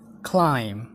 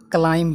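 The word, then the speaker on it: climb: क्लाइम, क्लाइम्ब होइन क्लाइम, क्लाइम। क्लाइम्बको B silent हुन्छ र यसको शुद्ध उच्चारण हुन्छ क्लाइम, क्लाइम।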